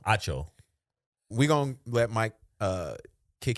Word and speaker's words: Acho: Acho.